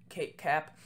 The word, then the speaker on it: CAPE: This is the cap, so not cape, it's pronounced cap, and this basically shows you the convective available potential energy in the atmosphere.